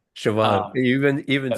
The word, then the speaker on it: Siobhan: pops up a couple times yes that's right shoban you even even say her name correctly oh